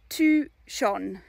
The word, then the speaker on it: Touchon: Okay, so Touchon. It's really easy. Touchon. So that's the village where we live. Touchon, it's 800 people. And it's Touchan, and you pronounce it Touchon.